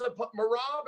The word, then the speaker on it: Merab: I'm smiling because John Dodson yesterday referred to his Merab. Am I pronouncing that correctly?